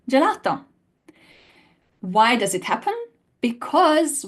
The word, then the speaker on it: gelato: translate the same letter but G hard G sound in G and a j sound in gelato why does it happen